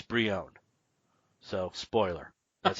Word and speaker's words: Brion: for years since 1985 I have been calling Geo Force Brion and it's Brion so spoiler that's how